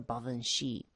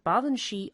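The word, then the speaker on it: Baobhan Sith: the a group of fairies known as the bhavan shi now the baba and shi are scottish uh in origin and the the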